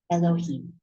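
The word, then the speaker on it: יהוה: It's written yud and he and Vav and hey, but it's pronounced Elohim.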